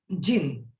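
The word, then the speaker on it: djinn: Even the clever जिन, देखो डी यहाँ पे साइलेंट है, जिन.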